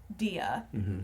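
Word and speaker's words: Dea: In this movie, she plays, and we've been pronouncing this as Dia.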